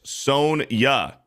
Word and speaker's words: Sonja: Beardo and Jay, try pronouncing it like this. Sonya. Okay, Sonya. Just spelled a little bit differently.